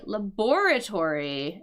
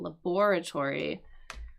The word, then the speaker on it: laboratory: But we could also say laboratory. And both of those are right and acceptable. Laboratory. So laboratory, that's what I would say, or laboratory. Those are both acceptable ways of pronouncing this word.